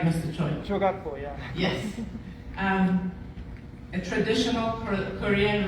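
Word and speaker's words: jogakbo: This heart will be covered in Jukatpo. Am I pronouncing that right, Mr. Choi? Chogatpo, yeah.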